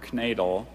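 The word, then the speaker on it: knaidel: It's a dumpling, as in Max hoped to find at least one more knadel in his soup bowl, but all he discovered was his missing lower denture.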